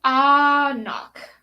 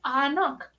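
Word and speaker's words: anCnoc: oh i don't know ah knock isn't the gaelic pronunciation but it's on their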